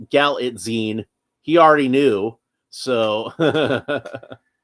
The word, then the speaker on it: Galitzine: Okay. So, Galatine, that's apparently how that's said.